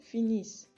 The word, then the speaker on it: finissent: Nous finissons, vous finissez, il, elle finissent. Cuidado que tiene doble S. La ENT del final tampoco se pronuncia.